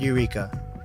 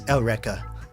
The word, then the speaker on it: Eureka: of you that don't know seven like yeah it's spelled Eureka Seven but it's not Eureka it's elrica so the soul outrika 7 is pronounced differently